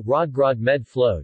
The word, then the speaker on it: Rødgrød med fløde: The name of the dish in Danish features many of the elements that make Danish pronunciation difficult for non-native speakers, so Rødgrød med fløde, listen, literally red groats with cream, is a commonly used shibboleth since the early 1900s.